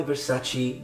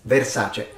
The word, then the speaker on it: Versace: point she goes I look good in my Versace dress so she she's mispronouncing it it's Versace if you have enough time and money to